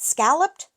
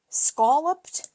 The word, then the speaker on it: scalloped: Well, how do you say it? Scalloped. Scoloped. I'm from New England and I typically say scoloped, but you know what?